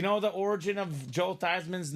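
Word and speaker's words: Theismann: for the Heisman so his parents their last name is not Theisman it's thesman thean but his last name is now Joe Theisman yeah so if you technically pronounce it Joe thieman Robbie it's not technically wrong either how dare they do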